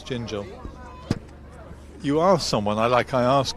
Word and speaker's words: Gingell: It's Gingell. You asked someone, I asked Colin just a moment ago, how do you pronounce it?